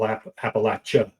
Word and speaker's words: Appalachia: And um even even something like the pronunciation, you know, if you're in southern Appalachia, it's al Appalachia, right? Right. That's that's the correct pronunciation.